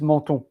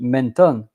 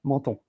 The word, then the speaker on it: menton: Because I think if I have to say it in English, it will be menton. But in French, menton, M-E-N, men, and then T-O-N, ton, menton.